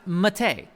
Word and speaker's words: MATE: done but Linux 19.3 that says mate it is pronounced Mattei I will call it mate cuz it is it's mate anyhow click on that